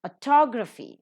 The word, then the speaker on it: autography: Autography, second syllable is accented.